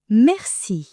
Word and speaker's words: merci: The word for thanks or thank you is merci. Mercy. Pause and repeat. Think of a mercy killing. Mercy.